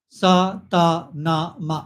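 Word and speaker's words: Sa Ta Na Ma: One mantra is sa, ta, na, ma. Sa of sandwich, sand, sadanand, s. Sa, ta like turtle, ta, na like nothing, na, and ma like mother, ma. Okay? So sa, ta, na, ma.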